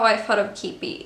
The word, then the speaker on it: Qeepy: I think I remember mentioning it to someone, but anyway, it's pronounced Keepy. I know a lot of people pronounce it wrong.